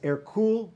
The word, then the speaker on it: Hercule: france eventually his name his birth name was air cool de valois but he was small he was